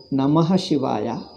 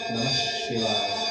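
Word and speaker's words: नमः शिवाय: Now, when you say Namaha Shivaya, how do you pronounce? Namah Shivaya. It is a Veda mantra. Therefore, Sandhi is necessary. In Veda mantra, Sandhis must be done.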